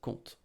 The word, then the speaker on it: compte: Oh, T is silent, sorry, I didn't write it, but T is silent, compte. Oh, sorry, P is silent, P is silent, compte.